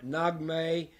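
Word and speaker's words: Naghmeh: It's Nagmay.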